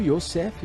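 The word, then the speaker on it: Yosef: governador do Egito foi José ou o yosseff pronunciado em hebraico ele era um judeu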